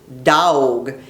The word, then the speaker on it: dog: And the word dog is pronounced dawg, D-A-W-G.